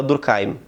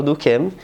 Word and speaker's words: Durkheim: Depois, tem o Emile Durkheim, ou como normalmente se fala, Durkheim. Por que eu falei isso? É porque ele era um judeu francês, então tem brigas de pronunciação. Na França falam Durkheim, então vamos de Durkheim. Mas em geral, tu vai falar com alguém e ele vai falar Durkheim. Então é o Durkheim.